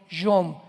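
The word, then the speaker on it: יום: Y tiempos o días son yom, Y o M de mamá.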